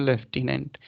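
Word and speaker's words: lieutenant: ID UPTU anti लेफ्टिनेंट अगर सही में इसको देखें तो लेफ्टिनेंट लेकिन बोलते हैं लेफ्टिनेंट यह आर्मी का एक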